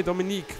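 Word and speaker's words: Dominique: Dominik er wieder vorbei dominiik wird das dann glaube ich ausgesprochen weil er mit der wird ja französische Schreibweise dominiik heißt das ja dann eigentlich wir bleiben trotzdem bei Dominik ergeran so jetzt seht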